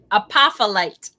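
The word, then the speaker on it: Apophyllite: Is Apostolate? Am I pronouncing that correct? Apostolate. What? Apostolate. The PH is a F.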